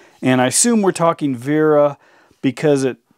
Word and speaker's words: Wera: i assume we're talking vera because it it's like you'd pronounce the w as a v in german however uh it says